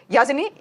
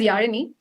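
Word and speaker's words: Yazhini: yeah sure uh yeah and my name is yarini know K M's name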